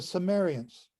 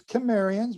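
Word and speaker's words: Cimmerians: history will record are what we now call the sumerians with a soft c i m m e r i a n and these sumerians are also known as chemerians with a k or with a hard c they're also known as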